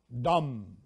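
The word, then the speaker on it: דם: Because remember that the heart has the blood, and in Hebrew, blood is dalet mem, dam. That is how you say blood in Hebrew.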